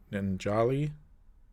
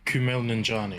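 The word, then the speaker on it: Kumail Nanjiani: wanna say for uh i always forget to pronounce his name ninjali oh kumail ninjani camille thank you uh like i think his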